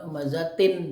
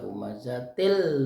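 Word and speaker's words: همزة: Wailul likulli humazatil, bukan humazatin dibacanya, tapi dibaca humazatil lu karena di situ ada sabdul lam ya. Jadi tinnya berubah menjadi bunyi til, jadi humazatil lumazah.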